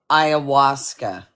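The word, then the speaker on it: ayahuasca: Iawasa.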